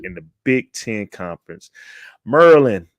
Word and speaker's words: Maryland: the Big 10 conference merland is how they say it shout out to everybody